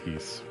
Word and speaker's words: Ys: If you enjoy games with good music, I suggest the East series. It was meant to compete against Final Fantasy, but on Sega. Well, by the mere fact that I pronounced it correctly, you might divine that I'm familiar with the series, and I do indeed quite like Ys.